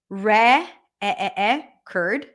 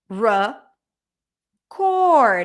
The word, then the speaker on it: record: that what what changes what changed was the primary stress and as a result we see a change in pronunciation re curred schah it's reduced usually when the usually the syllable that is not Str is reduced to a schwap I have other videos about the schwap record R cord all of a sudden it's that nice long o sound and the re at the beginning turned into a schw record invite invite decrease